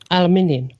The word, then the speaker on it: aluminium: Aluminium. Aluminum. So, aluminum. Yeah. Aluminium in England. In the UK, it's aluminium. Yep. Yeah. Yeah, in America, we say it right.